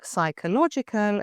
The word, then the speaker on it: psychological: pseudonym without a P, or psychological, a key term in leadership, where again we don't hear the P.